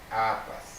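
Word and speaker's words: अपस्: If not so, apa. Если мы не добавляем, это получится апа. Apas, pa, sa. Vidama, apas.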